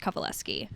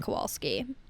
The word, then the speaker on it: Kowalewski: 1, you're obsessed with me, and 2, it's always been pronounced Kowalewski, Kowalewski. not Kowalski. Kowalski. I knew it wasn't Kowalski, but Yeah.